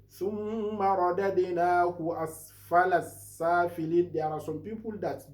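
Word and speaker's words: أَسْفَلَ سَافِلِينَ: Don't say aspala sapilin. Aspala sapilin is totally a mistake. While if you recite it like this, asfala safilin, that one is a very good one.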